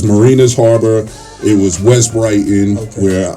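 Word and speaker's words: Mariners Harbor: Our areas were, we called it Manus Harbor because we couldn't pronounce anything. But it was Marinas Harbor, it was West Brighton,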